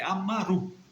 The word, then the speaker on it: Amaru: Perdão, Tupac não é Amuru, é Amaru. A gente tem que ter cuidado com a pronúncia.